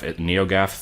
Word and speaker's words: NeoGAF: I was inspired to do this by the NeoGaf, I think it's pronounced Gaff, NeoGaf thread by Watch Birdie.